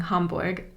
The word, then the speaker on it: Hamburg: when i speak english i use the english pronunciations of german cities just like when i